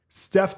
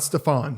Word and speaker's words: Steph: can't to be fair Steph Curry completely changed it's true he's Steph Curry he's not Stefan he's Steven Curry or spelled like the